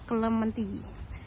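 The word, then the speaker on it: Clementi: mau kelementi ke kelementi tulisannya tuh celemti bacanya kelementi ini tahu enggak depan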